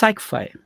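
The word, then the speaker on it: Cycfi: okay so i uh it's pronounced psychified so it's like okay it's it's the cycle of fifth so that's how it that got into becoming psych five okay so i went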